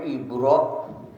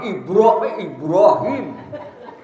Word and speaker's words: Ibrahim: Ibrahim waa Ali Ibrahim Ibrahim juga kita bacanya ibro Iya jadi enggak itu sebetulnya harus ada Qalqalah kalau BA mati harus qalqolah kan Ya wajib ya bukannya ibro Bagaimana bacanya I Ibrahim tapi IB Ibrahim tahu itu Nah kalau